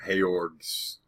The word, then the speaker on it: Georg: ahead on hey org how you pronounce his name hey orgs symbol GE o RG hey org um a lot of